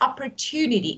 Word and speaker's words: opportunity: so and you know it's not CH so because you know most of people mispronounce this word this is opportunity it's te like not t opport opportunity it's not check so opportunity Yeah well